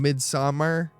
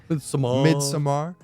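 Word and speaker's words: Midsommar: better than hereditary and mid-summer I said it wrong midsomar uh no no um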